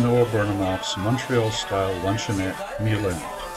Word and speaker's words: Mile End: burnhamoff's Montreal style luncheonette Milan as in the French pronunciation he was a young